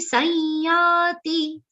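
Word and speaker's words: संयाति: Then gruhi tvaitani sanyati. Here gruhi is followed by half the complete verb I sound. Then sanyati, the anuswaran sa will be pronounced like a nasal ear consonant.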